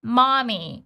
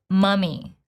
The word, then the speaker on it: mummy: It's great, but this particular word has short neutral same as in schwa. So it's not mommy, it's mummy, mummy.